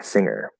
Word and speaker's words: singer: not barry let's see singer okay singer yeah so there it says there's no g there there's no good it's just at least